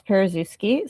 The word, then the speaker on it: Paruszewski: Yeah, first of all, I'm very impressed you could pronounce Paruszewski.